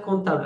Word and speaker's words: comptable: Le P, on ne le prononce pas.